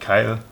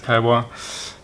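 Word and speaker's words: Kailh: It's not actually pronounced Kaiwa because it's Chinese, it's the name. It's not Kyle. Some people tried to correct me on this, but yeah, it's Kaiwa.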